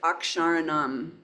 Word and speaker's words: akṣarāṇām: It's the KS sound, ksha, kshatriya, ak, sha. Here's a long ra. So the letter R plus long A, and you see it down here. Here's the retroflex na, long A. Akṣarāṇām.